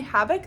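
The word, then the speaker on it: Habeck: Story by Emily habik Emily Havoc that's how you pronounce her name um I have seen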